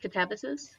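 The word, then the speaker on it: Katabasis: Katabysus.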